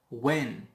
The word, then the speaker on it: when: When. Also H is silent.